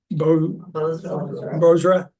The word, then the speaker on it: Bozrah: Bozrah.